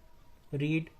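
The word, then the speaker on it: read: रीड, रेड, spelling वही होती है, लेकिन रीड रेड पढ़ते हैं, तो आई हैव नॉट रेड, तुम्हारे के लिए योर लेटर, फुल स्टॉप।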